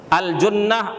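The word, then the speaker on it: الجُنّة: huruf jimnya di kasrahkan yang terakhir apabila didamahkan aljunah aljunnah bidil Jin bidil Jim Apa artinya bimaknaut a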